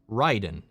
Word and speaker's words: Raiden: all intents and purposes raiden in mortal kombat should be pronounced ryden but no one does no one says that